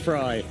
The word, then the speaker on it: Frey: Isaac Fry is about to get his. Now, listen to the pronunciation of the name. We got it right, Mike. We always do. Frey. Spelt Frey, pronounced Fry.